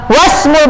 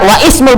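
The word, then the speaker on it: واسم: Ketika di sini setelah itu ada apa? Wasmul binti, ya, diwasal kan, enggak wa ismul binti, ya, seperti itu.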